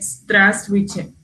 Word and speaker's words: Здравствуйте: E esse primeiro V não precisa ser pronunciado, né? Você pode dizer que é Здравствуйте.